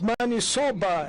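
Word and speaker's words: maniçoba: could interpret it correctly because it's man soba as you pronounce it and there's a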